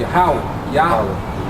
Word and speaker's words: Yahweh: His name is Yahweh. All right, meaning he in the Hebrew, and Yahweh meaning he is or he exists. You know, Yahweh.